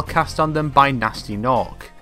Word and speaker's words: Gnasty Gnorc: The story follows a young dragon trying to save his fellows from a petrification spell cast on them by Nasty Nork, spelled with silent G's.